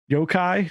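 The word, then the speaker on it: 妖怪: also it's it's story Hook is that there's Yokai am I pronouncing that right yeah the monsters the traditional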